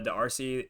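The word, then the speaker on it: D'Arcy: and for her Emma the RC is how you say it um playing riro she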